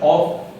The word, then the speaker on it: au: So now let's start with this a preposition plus e definite article it will be a u a u pronunciation will be o o means to at